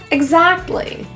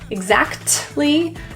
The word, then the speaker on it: exactly: Exactly. The T in this word is often dropped. Exactly turns to exactly.